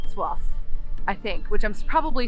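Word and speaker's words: Wrocław: we learned our lesson very quickly if not soif I think which I'm probably still pronouncing it incorrectly respect to everyone that speaks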